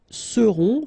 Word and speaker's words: seront: Ils seront, final T not pronounced, and then you've got this nasal, on, seront, elles seront.